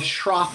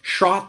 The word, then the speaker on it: Schroth: three so the goals of shroff therapy or shot therapy as it's pronounced in germany is to have a